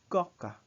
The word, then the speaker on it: coca: Notice that the sound of O is not O as in coca, but it's just O. Un coca. It's like you're a frog. Imagine you're a frog and pronounce this. Un coca.